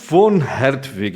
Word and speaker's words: von Hertwig: Nosso convidado de hoje, von Hertwig. Acho que eu pronunciei certo, né? Porque o V em alemão tem som de F, até onde eu sei, né?